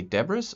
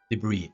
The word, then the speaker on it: debris: do you spell that do you say dabbers or debris debris okay thank you ah i